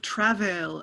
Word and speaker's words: travail: we can remove i i also think of travail as with uh with an emphasis on the first syllable which helps even out